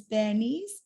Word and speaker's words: Baniti: My name is Bernice. It's spelled out as Baniti, in which the TI is pronounced as S, and that's why my name is Bernice, and Kiribati is pronounced as Kiribati.